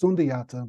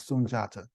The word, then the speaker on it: Sunjata: the founder of the Mali Empire sunjata sometimes pronounced sundata but it's the correct pronunciation is sunjata I wish I had the time to go